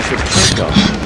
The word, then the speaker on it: Shevchenko: Excuse me, it's Elena Shevchenko.